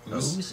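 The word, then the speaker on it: OOO: Number 7 is Kamen Rider Force, and is it Ooze? Ooze? They pronounce it ooze. It's supposed to be O's.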